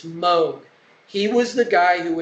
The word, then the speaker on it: Moog: Now, you'll often hear his name pronounced as Moog, but today they've corrected it and it's Moog.